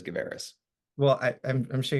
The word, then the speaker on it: Gavaris: my last name there's I think a lot of people say gavaris but my family says GIS well I I'm I'm